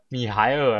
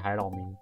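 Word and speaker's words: 米海尔: 其实哦，米海尔啦，我一直念成海老迷，海老迷到底是谁啊？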